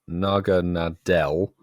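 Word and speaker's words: Naganadel: this and explain but it's because and actually pronounce thanks sue for this Naga Nadel is the evolution of Poole and because it's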